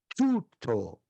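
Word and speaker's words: τοῦτο: A pronúncia é tuto.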